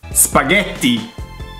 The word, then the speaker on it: spaghetti: Spaghetti. T. It's quite easy. I don't understand where the T spaghetti. Where does the D come from?